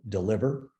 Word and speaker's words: DLVR: and the ceo of deliver spelled with no vowels so dlvr but we pronounce it deliver and what we do